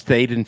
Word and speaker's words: Thaden: And, uh, uh, it's Thad and Phil for those that aren't familiar with the area.